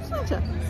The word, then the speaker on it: sláinte: Sláinte? Is that how you say it? Did I say it wrong? No, you said it right. Did I say it right? Sláinte.